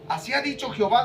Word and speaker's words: Jehová: recapitular un poquito dice Jehová es la pronunciación aceptada en español de las letras y H w H el nombre de Dios